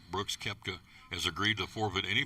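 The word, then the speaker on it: Koepka: Brooks Keepka. I'm sorry. The O is silent. Brooks Kepta has agreed to forfeit any player equity shares for the next five years.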